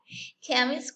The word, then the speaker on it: chemist: Y vemos que la CH en estas palabras se comporta como una K. Here, the sound is, sí, así suena, chemist, court, and chorus. Y el origen es griego. Por lo tanto, las palabras con ese origen suenan de esa manera.